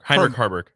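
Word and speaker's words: Heinrich Haarberg: Like if Sims is struggling, then you can insert how you pronounce his name again? Heinrich Harburg.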